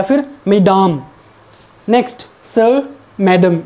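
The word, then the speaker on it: Mesdames: मेस, और इसको मैडम, ये मेस डेम्स नहीं है, इट इज़ मैडम।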